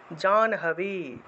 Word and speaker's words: জাহ্নবী: स्नातु मभ्या ययो तोये জাহ্নবী উচ্চারণ হবে, হটা পরে উচ্চারণ, ন আগে উচ্চারণ।